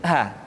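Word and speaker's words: ح: Perhatikan huruf ha seringkali diucapkan dari dada. Ha. Ingat, di dalam makharijul huruf kita tidak mengenal pengucapan huruf-huruf dada. Tidak ha, tetapi ha.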